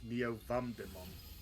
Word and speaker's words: Neo Vamdemon: Oh wait, no, I said it wrong. It's Neo Vamdemon. Neo what? Neo Vamdemon. Neo Vamdemon. Yeah. That's a mega. Wait. Neo... Vadimon? What? V-A-M. V-A-M... D-E... Oh.